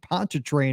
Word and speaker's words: Pontchartrain: we're heading down to New Orleans the Lake Pontchartrain area I think I said that right with